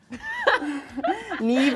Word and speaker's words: Niamh: Niamh is like Niamh. There's no V.